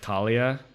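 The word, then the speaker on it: Thalia: names even this like I think it's the German word right it should be like Talia Talia's Lancers not Thal yes but like all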